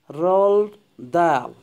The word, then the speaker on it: Roald Dahl: Roald Dahl, commonly pronounced as Roald Dahl.